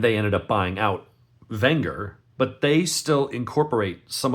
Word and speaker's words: Wenger: the longest time there was a company called Wenger remember they pronounced the W as a we pronounce we would look at that and say wer they would pronounce it Wenger and it was Victorinox and Wenger and both